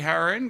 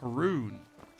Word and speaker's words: Haroon: Howdy, Harin. Good to see you there. Wait, it's Haroon. It's our main.